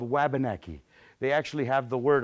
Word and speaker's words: Wabanaki: to correct me but it's more accurately pronounced Wabanaki and that means the dawn